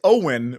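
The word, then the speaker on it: Eoin: Owen. It's Owen, but it's not spelled that way.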